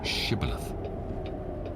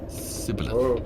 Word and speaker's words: Shibboleth: If he say nay, then said they unto him, Say now Shibboleth. And he said, Sibboleth, for he could not frame to pronounce it right.